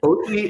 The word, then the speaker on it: Oggi: Oggi is the Italian word for today, I but it's see. spelled, in Italian, it's spelled Oggi, I see. which we wouldn't pronounce well in America.